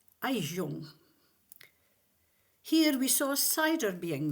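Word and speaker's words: Gijón: After another day at sea, we arrived at a place spelled Gijon, but pronounced Gijon.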